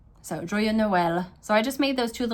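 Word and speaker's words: Noël: E, the 2 dots, because in French, you would want the 2 dots over the E, because then it denotes another syllable. Thank you. Otherwise it would just be Noel. So Joyeux Noel.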